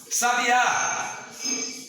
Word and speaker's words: sabiá: Sabiá, está no último a.